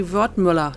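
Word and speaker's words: Wertmüller: It would be Wertmuller, not Müller or whatever.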